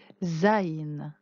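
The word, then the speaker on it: זין: un petit peu compliqué qui ressemble au vavin petit peu tordu ça se prononce zain à vous de réciter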